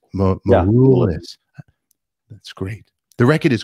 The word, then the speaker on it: Maroulis: Constantine Maroulis. Did I say it right? Cool album cover. Maroulis. It's Maroulis.